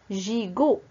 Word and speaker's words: gigot: Gigot. Alors, pour gigot, il y a J, le premier J, il se prononce J, et le deuxième se prononce go.